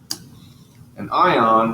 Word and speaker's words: anion: ion is going to end up being negative an ion with a negative charge here's the word and is pronounced anion most anions are nonmetals we can